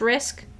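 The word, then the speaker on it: RISC: risk V okay okay typically pronounced risk and arm that makes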